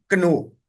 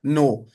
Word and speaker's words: know: इसी तरीके से जब हम अगला लफ्ज पढ़ेंगे, वो है हमारे पास KNOW, कनो। अब लिखने में ये कनो है, लेकिन हम जब पढ़ेंगे तो ये पढ़ा जाएगा नो।